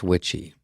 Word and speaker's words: Witchie: His name is Lance Witchie, pronounced like witchy woman.